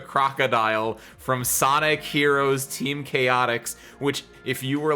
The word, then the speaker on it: Chaotix: me as a child, you also said Team Chowtix. Because why would they spell it like that? That's not how you spell chaotic, but I know what a Chow is from Sonic Adventure 2 Battle, so I said it Chowtix.